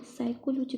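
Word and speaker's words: psychology: ये जो दिया है पी एस वाई सी एच एल जी व इसको पी पी साइकोलॉजी बोल के साइकोलॉजी पढ़ते हैं। यहां पे पी साइलेंट वर्ड हो जाता है।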